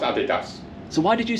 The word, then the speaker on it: Adidas: I just wanted to make sure um it's pronounced Adidas so why did you say Adidas because there